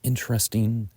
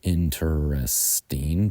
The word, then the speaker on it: interesting: is the word adjective interesting and American engl speakers some might say interesting but most people say interesting interesting interesting more interesting